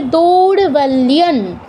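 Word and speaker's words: দৌর্বল্যং: ত বর্গের পঞ্চম বর্ণ দন্তন্য হসন্ত, তার উচ্চারণটা কী হবে? দৌর্বল্যন, লিয়ম কিন্তু নয়, ম কিন্তু হবে না, দৌর্বল্যন, এরকম।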